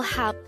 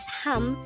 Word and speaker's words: 합: The third syllable Hap is formed from the combination of the Hiya, A, and Biup sound. Even though it has a Biup sound at its ending, it is pronounced as Ham since it is followed by